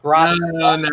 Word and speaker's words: Grassia: You do know my last name is actually with S's, not Z's, right? It's pronounced Grassia.